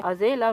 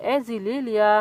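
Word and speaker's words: Azalea: Sorry यहाँ पर flower के नेम में थोड़ी सी प्रोनाउंसिएशन मिस्टेक मिस्टेक हो गई थी। इस फ्लावर का नाम एजिलिया फ्लावर है, जो कि व्हाइट कलर की होती है।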